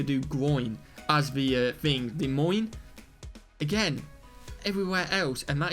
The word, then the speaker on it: Des Moines: pittsburgh do so that's obviously right the uh des moines des moines i pronounced it wrong in a video before but people told me to do groin as the thing des moines again everywhere else and that is a halloween